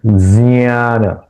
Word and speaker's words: ज्ञान: श्रेय श्रेय ज्ञानम ज्ञान या ज्ञान नहीं उच्चारण करना है। इसका उच्चारण जियान ज और ञ युक्त होकर ये ये अक्षर बना है। इसलिए दोनों का उच्चारण इसके उच्चारण में आना चाहिए।